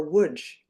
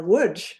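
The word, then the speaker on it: Łódź: to the Soviet threat to Litzman or Woodge. Now woodj I am pronouncing that correctly but you might see it's spelled L O DZ and in wood my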